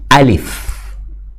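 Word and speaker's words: ألف: Karena sebenarnya ulama mengatakan enggak, ini kata yang dimaksud karena alif nggak dibaca a, tapi alif.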